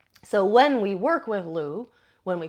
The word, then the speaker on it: Lugh: So, Lenaza is named after the god Louu. It's spelled L U G H, but the probably the best pronunciation we can get is Lou.